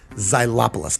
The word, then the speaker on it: xylopolist: what is a xylopolist well how do you spell it it's x y l o p o l i s t zylopolis i had to look it up xylopolist is